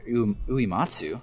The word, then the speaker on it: Uematsu: Uematsu, let's pronounce his name right.